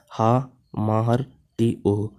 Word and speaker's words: Hamartia: Hamartia pronounced ha-mahar t-o is derived from the Greek phrase hamartianum meaning to err or to miss the mark।